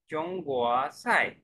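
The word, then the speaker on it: 中国菜: साई पे fourth tone है बच्चे, चोंगुआ साई।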